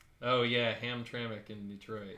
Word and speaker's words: Hamtramck: Hungary I'm gonna eat a sandwich is it Hamtramck oh yeah Hamtramck in Detroit how do you spell write it